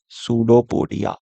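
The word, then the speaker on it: pseudopodia: तो इसका नाम इसका पी साइलेंट है सूडोपोडिया ऐसे करेंगे और इसको हम कहते हैं फूड वैक्यूल।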